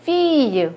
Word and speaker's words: fille: 요것은 요거 발음 배웠죠? 우리 요거 이유로 발음이 나는 철자예요. 요거는 fille, win, fille, 소녀가 되겠습니다.